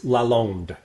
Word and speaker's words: Lalonde: It's Lalonde. It's a French name.